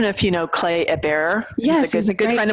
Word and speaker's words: Hebert: And for those listening, it's Hebert, a little French pronunciation.